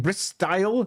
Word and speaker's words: Bristle: Bristyle, if you prefer. But Clan Bristle, all of them, they're monsters, have quills. It's Bristle, because porcupines are rodents.